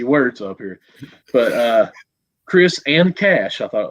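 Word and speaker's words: Chriss: marquise chris yeah yeah it is just chris said okay because i know it's got two s's and it throws me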